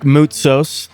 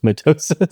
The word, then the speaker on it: Moutsos: Moutsos. You said it right. I said it right. Alex Jones butchered it. Yeah, what did he say again? Moutsos. Mitosis?